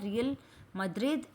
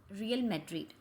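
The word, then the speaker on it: Real Madrid: अभी बना है रियल मद्रिद, FC बेरकिलोना, लिवरपूल और मैनचेस्टर सिटी. देखिए प्रोनाउंसिएशन में कोई गड़बड़ होता है, सॉरी. बताइए. Manchester city, Liverpool, FC Barcelona और रियल मैड्रिड।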